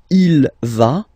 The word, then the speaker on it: va: And then you get the va form. Basically, you pronounce it like for the tu, because you don't pronounce the final S, okay? Il va, elle va, okay?